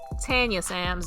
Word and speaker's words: Tanya Sam: we've seen that with tanya sam's tanya sam's i'll say um is how she pronounces her name she came on the